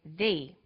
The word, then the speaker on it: the: difference in pronunciation though when the comes before a vowel sound we say thee the apples so the before vowel sounds and before consonant sounds let's look at the